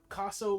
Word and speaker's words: Kossow: Yep, Kossow like Picasso. My 9th grade football coach said Picasso without the P. And he was awkwardly accurate. But spelled with a K.